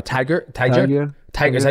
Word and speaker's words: Tagir: It's Tagir. Tiger? Tiger.